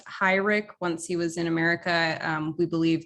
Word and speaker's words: Heurich: from what we know it was always pronounced high rick once he was in